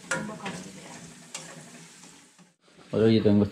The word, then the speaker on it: Thumba Karawila: Is how you pronounce yeah. them. What was the name for them? That was, Tumbakarawilla.